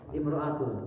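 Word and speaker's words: امرأة: Imro'atu. Nah, itu ya. Kalau enggak ada alif lamnya maka dibacanya dikasrahkan imro'atu.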